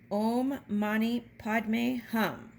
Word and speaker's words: Om Mani Padme Hum: The mantra and how to say it is Om Mani Padme Hum.